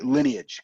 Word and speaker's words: lineage: You actually have to pronounce the E for this one.